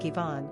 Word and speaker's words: Iván: In the Spanish and Portuguese languages, the name is written with an accent, i.e., "Iván" which is pronounced more like "Iván," and is sometimes considered a substitute for the name Juan.